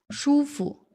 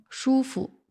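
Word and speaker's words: 舒服: 舒服，舒服，福字单读的话它是 2 声，在这里读成轻声，舒服。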